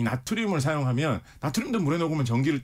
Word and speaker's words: 나트륨: 근데 리튬 바로 밑에 있는 게 바로 나트륨. 요즘은 이제 영어식 발음으로 소듐이라고도 많이 하죠.